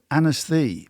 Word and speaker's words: Ynysddu: Was a place called Anasthee, but it's spelled Ynysddu.